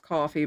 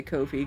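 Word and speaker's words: Ko-fi: hours hi there Kofi I think it's supposed to be pronounced coffee but I still say Kofi cuz it looks Kofi Kofi comfy there we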